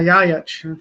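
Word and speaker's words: Ljajić: Yeah, Jajic. Thank you. I needed someone to pronounce that for me.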